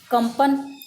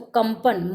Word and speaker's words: कंपन: जैसे इधर देखिए आप, कंपन, तो प व्यंजन से ऊपर है वो अनुस्वार, तो कंपन, म का उच्चारण करेंगे हम, है ना, कंपन, संवत, संवत।